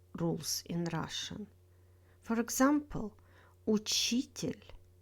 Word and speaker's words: учитель: In words with тель, stress falls on the syllable before тель. This one is the most reliable rules in Russian. For example, учитель, строитель, водитель, обстоятельства.